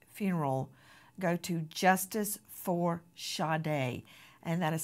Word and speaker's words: Sade: know that there will be a fundraiser for shade's funeral go to Justice for shade and that is spelled s a d e like you would say Sade like Sage it's